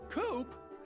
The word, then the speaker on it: Coop: can call me coop coop that rhymes with scoop i think we're gonna